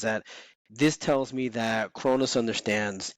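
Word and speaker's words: Kronos: So Cronus, am I saying it right? Cronus? Yes, you are.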